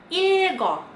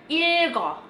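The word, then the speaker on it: 읽고: Enggak, kalau misalnya ketemu sama huruf vokal, dia dibaca dua-duanya. Jadinya dibacanya ilgo, ilgo, ilgo.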